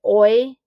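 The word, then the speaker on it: hoy: week we learned that oi means today remember the h is silent oy s l and then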